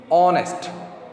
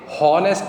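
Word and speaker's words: honest: देखिए, ऑनेस्ट, ऑनेस्ट, ऑनेस्ट, ठीक है. हॉनेस्ट नहीं बोल रहे हम, इसको ह नहीं बोल रहे, इसको बोल रहे हैं ओ, ऑनेस्ट.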